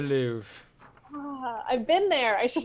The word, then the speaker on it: Louvre: The Louvre. Is that how you say it? It is the Louvre.